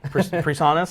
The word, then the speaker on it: PreSonus: And now I know how to pronounce the name of that brand. PreSonus?